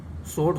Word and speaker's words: sword: SWORD, सोड, सोड माने तलवार, तो इस तरह से इसमें भी W साइलेंस वर्ड है।